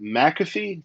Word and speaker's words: McAfee: Is it McAfee? Did I say it right? That's correct. McAfee, yes.